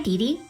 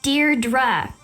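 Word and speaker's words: Deirdre: it or something hi Dee Dear dra I know it's got that tricky second syllable but I figured it out by age two don't give up you'll get there sorry hi dearra hey now someone's getting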